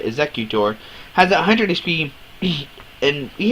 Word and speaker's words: Exeggutor: Exeggutor has 100 HP, and he has his attack called Blockade.